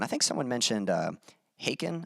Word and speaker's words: Haken: think someone mentioned uh haken i think that's how you pronounce them h-a-k-e-n um i think that's how you pronounce your band name and i had checked